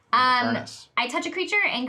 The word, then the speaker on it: Avernus: earnest, which are It's Avernus. It's pronounced Avernus.